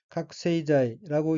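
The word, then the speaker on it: 覚醒剤: 우선 빨간색 줄침 부분을 보면 첫째 줄 첫 번째 어휘는 한자가 한국어로 각성제이고 일본어로는 각세이자이라고 읽으며 각세이자이는 각성제라는 뜻입니다.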